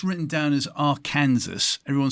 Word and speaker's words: Arkansas: Well, it's actually an Indian name. It means downstream people, and the Indians say Arkansas. It's not spelled that way, but if you spell it phonetically the way they spoke it, it's Arkansas. Gee, thank you.